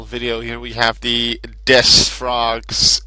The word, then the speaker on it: D.3.S.: Here we have the Des frogs, and Des spelt with like this with the three because it has D.3.S frog, but it's just like Des frog.